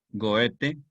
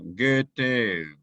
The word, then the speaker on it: Goethe: Goethe, que se pronuncia Goethe, para decirlo muy estrictamente en alemán, pero pueden pronunciarlo simplemente como Goethe porque da pereza pronunciar un sonido ambiguo que pertenece a otro idioma.